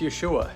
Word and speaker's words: Yeshua: The best scholars can figure out these days that it was probably pronounced Yeshua and God was referred to as Yahweh.